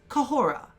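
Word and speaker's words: Khora: of h erasure whatsoever so again it is co hora cup whole raah kejoro now as we discussed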